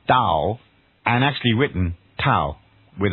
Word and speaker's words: Tao: Dow or towel so in the end it's pronounced Dow and actually written towel with a T so